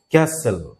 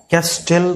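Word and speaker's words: castle: যেমন হচ্ছে এটাকে আমরা বলবো ক্যাসেল, ক্যাসেল, ক্যাস্টেল কিন্তু বলা যাবে না, ক্যাসেল, টি এবং ই দুইটা সাইলেন্ট হয়ে যাবে।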